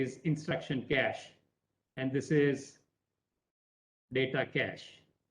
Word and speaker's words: cache: call it cache memory please do not pronounce this as cachet this is known as cash and cash means storage